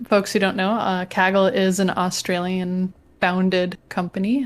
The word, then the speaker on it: Kaggle: the explanation is that in australian english kaggle is unambiguously pronounced kaggle apparently however when anthony goldblum moved to the united states he found out that americans will sometimes say kegel or kegel or something a little bit closer